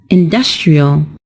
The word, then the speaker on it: industrial: When we turn it into an adjective, the stressed syllable is also changed, and it's pronounced as industrial.